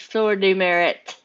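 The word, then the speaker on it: Pour le Mérite: e m e r i t e it's pronounced floor demerit okay thank you french medal of merit yes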